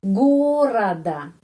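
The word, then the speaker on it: города: Terus gorada. Lagi ya di sini, pengucapannya di sini karena itu A.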